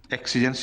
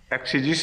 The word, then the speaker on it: exegesis: the University of Manchester۔ ایکسیجنسز نہیں ہو سکتا، ایکسیجیسز ہی تلفظ ہے کیوں آفتاب خان صاحب؟ ایکسیجیسز ہی کہلائے گا نا۔ اچھا، مینچسٹر میں ہے۔